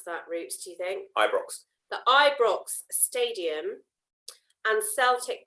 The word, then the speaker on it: Ibrox: The Ibrox, how do I pronounce that, Roots, do you think? Ibrox.